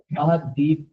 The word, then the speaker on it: Ahadith: अहादीस को इंग्लिश में वो स्पेलिंग यूज करेगा AHADITH। अहादीस पढ़ा जाएगा लेकिन अहादीस से कहेंगे।